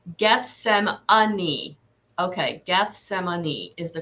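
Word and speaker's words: Gethsemane: my above statement get some a knee okay Geth semini is the correct pronunciation a garden between Jerusalem and the Mount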